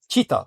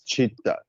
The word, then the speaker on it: chitta: The Sanskrit word cheita or sitta that's chitta chittita chitta.